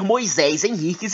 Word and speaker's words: Moisés Henriques: Não adianta se os australianos disserem, não se pronuncia assim, desculpa. O camarada é descendente de portugueses. Eu vou ler Moisés Henriques e acabou. Então não me venham com essa. Eu vou ler Moisés Henriques. É filho de portugueses. Isso, é filho de portugueses, foi batizado por portugueses, então é Moisés Henriques.